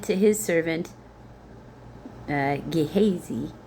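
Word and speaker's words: Gehazi: He said to his servant, uh, Ghesy, that's how I'm going to say it. G E H A Zi. But let me hold on. All right. So, I looked it up and I was saying it right. Gihazy.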